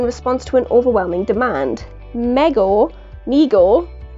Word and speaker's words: Mego: these figures in response to an overwhelming demand mego nego pronounced meagle corp was started by his father david abrams